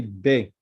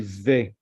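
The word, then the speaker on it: בּ: If we have a dot, we say be, like boy. If there is no dot, we say ve.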